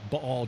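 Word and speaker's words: Baal: I just you know say ball just so Scholars know that I know how to say it um but most of us know it as Bale uh he defeated the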